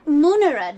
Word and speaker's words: munera: Munera, darling, like tum-tiddy. Always a short A in neuter plural.